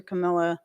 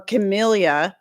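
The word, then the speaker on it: Camellia: So they all come from the Camila sensus, but you can also use your Camila or Chameleia for those people who get a little bent out of shape with the way I pronounce it.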